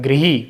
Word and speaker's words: गृही: लिए आता है, तो इसका शुद्ध उच्चारण होता है गृही। ग्रह नहीं होता, क्या होता है इसका शुद्ध उच्चारण?